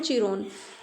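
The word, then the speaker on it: Chiron: है डेमिट्रियस अलारबस एंड चिरोन आर सनंस to Tamora Tamora के बेटे हैं डेमिट्रियस, अलारबस और चिरोन और किरोन भी इसकी प्र इसकी प्रोनाउंसिएशन हो सकती है किन भी।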